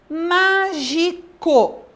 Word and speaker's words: mágico: nós temos a palavra mágico qual que é a sílaba tônica na então a sílaba tônica é a antepenúltima vocês perceberam que quando